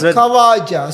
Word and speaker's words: Khawaja: So there is a man called Kawaja Koja Usman Kawaja that's Kawaja. So you know it by the different pronunciations different names because if you when you